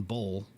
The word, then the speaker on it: bowl: combine the O with the L, which is really both of those, the W is pretty much silent in bowl.